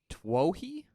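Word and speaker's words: Twohy: 15 Amore uh directors David tohi that's how I'm gonna pronounce his name okay because it's t-w-o-h-y okay uh he did Below in 2002.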